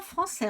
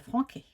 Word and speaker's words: français: cette dictée le président français on n'oublie pas la sdie à français sinon ça ferait Franquis a prononcer avait prononcé